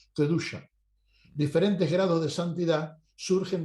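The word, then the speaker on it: קדושה: Por ello, debemos recordar que santidad es el significado de la palabra hebrea que se pronuncia kedusha.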